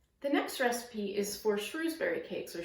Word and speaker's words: Shrewsbury: The next recipe is for Shrewsbury cakes, or Shrewsbury cakes as they're sometimes pronounced.